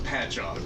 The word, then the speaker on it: Patchogue: No, it's called Patchog.